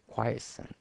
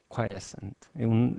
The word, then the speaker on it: quiescent: ¿Cómo se pronuncia eso? Quiescent current. Quiescent.